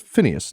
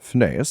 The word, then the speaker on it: Phineas: Yes, well, first of all, it's pronounced Phineas, not Phineas, and second, it's good to meet you, my boy.